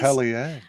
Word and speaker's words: Atelier: Atelier.